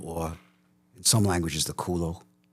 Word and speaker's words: culo: cul is the bottom, or in some languages, the culo. How do you say your butt in Spanish? Culo.